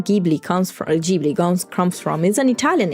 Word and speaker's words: Ghibli: airplane that the name Ghibli comes from is an Italian airplane, and GH in Italian is pronounced G, so it's Ghibli, not Ghibli.